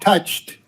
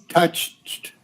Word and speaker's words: touched: yeah this okay and then touched touched you see uh you got to get that uh now the word touched touched yeah it's like a t on the end touch